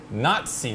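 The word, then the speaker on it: Not-See: For a show called the Nazi Party. Spell it.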